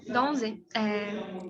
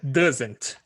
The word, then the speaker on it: doesn't: Seria donze? Isso. Tá. Pode falar. É doesn't que pronuncia Doesn't. isso.